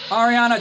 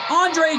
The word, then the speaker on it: Andre: And here comes the professor of Chase U, Andre Chase. Yeah, I'm actually pronouncing the first name right this time, folks.